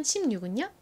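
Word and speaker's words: sixteen: 자, 60은 어떻게 발음해야 되죠? 앞에 강세 60 이죠. 60. 반면 16은요? 뒤에 강세 16입니다.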